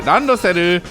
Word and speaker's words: randoseru: That's a child's backpack called a ransel, but we pronounce it randoseru.